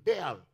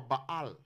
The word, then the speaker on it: Baal: The first god that always comes was Baal, or Baal, as its name is properly pronounced.